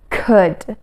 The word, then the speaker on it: could: And for could, we just don't pronounce that L. L is silent here. So we say could.